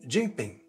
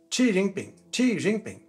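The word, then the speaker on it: Jinping: laquelle le président Chi Oui, ça se prononce pas ou Z.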